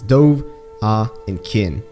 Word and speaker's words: Dovahkiin: start of the game they very clearly pronounce it as three different syllables this douve ah and kin so that probably fits